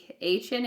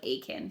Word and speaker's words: Achan: So I think Achan is more like Achan.